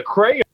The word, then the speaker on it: crayon: He's like, you wear a crown. You color with a crayon. And then I looked at the box, and I'm like, oh, my goodness. We've been omitting two syllables out of here.